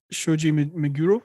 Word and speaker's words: Shoji Meguro: The Persona series composer Shoji Meguro, did I pronounce that right?